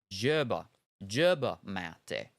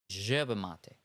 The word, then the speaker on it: yerba mate: The South America sound isn't really like the J in Germ. It's more like the J in Cajun. Caj, Yerba mate.